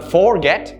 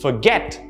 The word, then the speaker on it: forget: syllable forget is on forget it's forget notice how the stress is on the second syllable again explain reject produce all